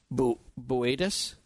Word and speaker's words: Boötes: It's spelled Bootes, but it's Boötes? Yes, I'm here. Epsilon Boötes.